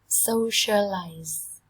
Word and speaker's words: socialize: socialize, socialize, trọng âm dâm tiết đầu tiên. Socialize, socialize. Cái đuôi S của từ này ấy, các bạn đọc thành âm Z.